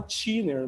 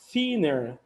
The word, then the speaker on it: thinner: E aí todo mundo fala thinner, mas não é thinner, a pronúncia correta é thinner, né? Mas normalmente o pessoal não fala desse jeito porque não conhece essa pronúncia, tá bom?